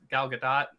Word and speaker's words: Gal Gadot: The way they overly sexualize Gal Gadot throughout the entire film. Gal Gadot. Right, that's how it's pronounced.